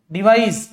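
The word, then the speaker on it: devise: এটা দন্তস্বর মতো উচ্চারণ করবে বা চয়ের মতো উচ্চারণ করবে, চয়ের মতো ডিভাইস বা দন্তস্বর মতো, কিন্তু এটা করবে বর্গীয় জর মতো, ডিভাইস।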